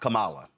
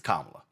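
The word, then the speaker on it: Kamala: First of all, um it's not Camala, it's Kamla. So maybe you ought to get the name right, pronounce the name properly.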